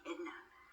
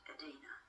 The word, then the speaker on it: Edina: I often wondered why the family called me Edna, because I was christened Edina. But my father had a guttural sort of a voice, and pronouncing Edena, he used to say Edina, see, and so the family